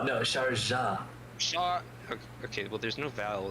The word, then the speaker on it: Sharjah: Sharjar. Am I saying that right? No, Sharjah.